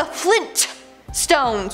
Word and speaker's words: Flintstones: No, apparently it's the Flintstones with the hard T.